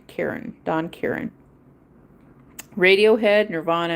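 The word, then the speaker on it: Caron: And there's a guy by the name of Don Karen. It's spelled C A R O N. Karen.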